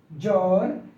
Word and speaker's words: জ্বর: শিকার দ্বাদশ দ্বিতীয় ধ্বংস জ্বর জ্বালা জ্বালানি দ্বিধা এই শব্দ গুলোর প্রত্যেক প্রত্যেকটি শব্দের প্রথম যে বর্ণটি রয়েছে প্রথম বর্ণের সাথে অর্থাৎ শব্দের শুরুতে বফলা রয়েছে কিন্তু কোথাও বফলার উচ্চারণ হয়নি তো বফলার উচ্চারণ হয়নি